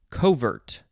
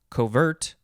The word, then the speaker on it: covert: emphasize the second syllable covert i guess it might depend on the context and then you could also just say covert not that not co just covert first form adjective from